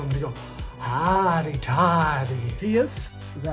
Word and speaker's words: Matheus: Matthias, is that how you say it? Mateus? Mateus.